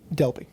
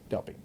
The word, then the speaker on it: Delpy: i feel like i've been saying it wrong delphi delpy um sidebar um i realized while i was